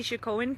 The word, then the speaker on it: Oceti Sakowin: Again, what I'm showing you right now is the Oceti Sakowin camp.